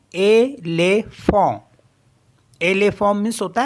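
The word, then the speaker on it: éléphant: accent एगू है जैसे ई एल ई पी एच ए एन टी इन दोनों में दो जो ई है यहां पर हमारे पास इनमें एक्सेंट एक है यानी कि एक्यूट एक्सेंट है तो इस इनको पढ़ते हैं एले फो एले फोम मीस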